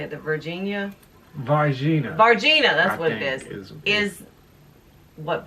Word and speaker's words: Varginha: The Varginha, that's what it is what Brazil's version.